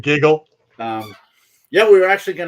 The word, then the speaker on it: Gig-L: I think it's pronounced Giggle or Giggle. She'll correct. Giggle.